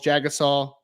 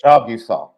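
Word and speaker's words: Jagusah: to fix it how how is it actually pronounced what did he say it was jusa Charles J usaw jusa jusa that doesn't flow man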